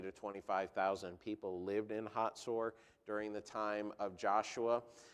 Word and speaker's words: Hatzor: You would pronounce it Hazor in English, H-A-Z-O-R, but it's pronounced Hatzor in Hebrew.